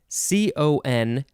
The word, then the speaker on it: contemn: treat with contempt yeah when i read that it's pronounced contem i thought that's that's close to contempt um yes so that's